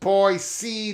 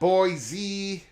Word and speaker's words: Boise: Sean might be right by the way it's pronounced boy c not boy z uh okay here we go um let's let's